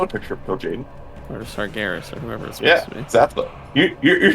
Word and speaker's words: Sargeras: what the heck that's not a picture or sargeras or whoever is yes you're doing the trivia you should know these things it's actually pronounced sargeras come on now the sargeras is dead sargeras